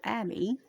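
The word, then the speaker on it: Abia: Zachariah of the course of Abbi or Abby as some probably pronounce it and his wife was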